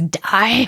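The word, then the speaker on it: dau: 2 is die, which sounds a bit dramatic, but I'm going to say like a die, like a dice.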